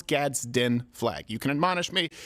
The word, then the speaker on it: Gadsden: if I miss it's really hard to say gadin flag but I'll sometimes say gazden sometimes I'll say gadin but I know it's Gadsden flag you can admonish me in advance it's